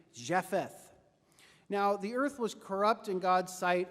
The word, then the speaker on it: Japheth: noah had three sons who may be pronounced something like shem ham and japheth now the earth was